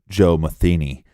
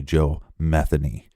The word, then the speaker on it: Metheny: you look up some reports they will say Joe Matheny but it's actually Joe Metheny yeah we got that from local Baltimore reports